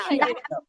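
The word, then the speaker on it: 下: যখন যে এক্স আছে না, এক্সটা কি সি, তো আই হবে ই, তো এক্স আর আই মিলে সি। হ্যাঁ, আর এ কি, এটা হচ্ছে আ, তো সি আর এ আ, সি আ, সি আ, তো ফলিং টুন আছে, এই জন্য হবে সি আ, শিয়া।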